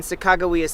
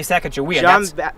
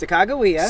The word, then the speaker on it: Sacagawea: I'm glad you said that because I always mispronounce. Say it again. I always say Sacagawea. It's Sacagawea. Sacagawea. Yes. I want to make sure I get that right.